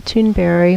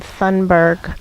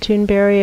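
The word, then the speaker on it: Thunberg: stepping off and we would start with Greta tune very that's right and he some people pronounce her name Sundberg but if I which is how it looks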